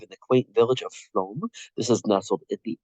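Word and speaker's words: Flåm: Flo it looks like flam l a m but that a with a circle on the top in Norwegian is pronounced o so that's why I'm calling it Flo instead of flam uh we will immerse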